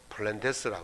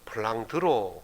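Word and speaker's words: Vlaanderen: 사람이 미국 사람이기 때문에 영어식 바람으로 블렌드 에스라 그러고 브라우스 발음으로는 블라우 들어 그렇게 말합니다 2 벨기에와 낼 안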